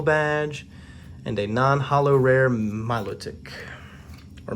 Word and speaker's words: Milotic: Again, that's one of those that I've heard it pronounced different ways. I say Milotic. I've also heard people just say Milotic, like, you know, it flows together more that way.